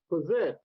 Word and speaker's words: PPFSZT!: from jim mayne is possessed with the silent f right and this covers